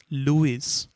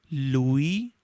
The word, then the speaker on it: Louis: Most of you students may pronounce this as Louis, but let me tell you, this S is silent. So it is read as Robert Louis Stevenson.